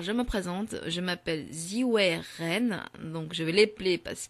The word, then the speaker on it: Zhiwei Ren: Je m'appelle Ziwei Ren.